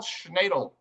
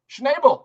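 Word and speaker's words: Schnabel: commentary from the ECB's Isabel Schnedle. Schnable, I'm sorry, I said her name wrong.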